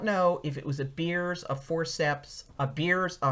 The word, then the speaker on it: Beers: She said beers, and that's spelled B-I-E-R-S, and that is a kind of forceps.